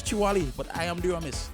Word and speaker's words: Chewalee: Chewalee.